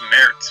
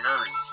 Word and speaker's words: Merz: The German pronunciation is Merz, but my family says Merz for some Oh, reason.